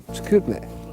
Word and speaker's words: Chicoutimi: Chicoutimi.